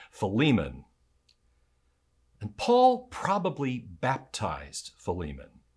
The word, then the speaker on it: Philemon: died and is risen paul has friend named pokemon ah there i go again philemon and paul probably baptized